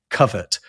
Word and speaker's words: covert: until the 1960s, they're pronouncing it covert almost exclusively. It's just the past participle of covered, like cover, right? Covered.